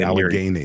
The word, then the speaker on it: Allegheny: I say Allegheny, like game. Allegheny.